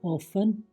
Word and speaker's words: often: Next, TE, ये भी कई बार साइलेंट हो जाता है। HASTEN हैसन, जल्दी करना। LISTEN लिसन, सुनना। OFTEN ऑफन, अक्सर या प्रायः। SOFTEN सॉफन, कोमल बनना।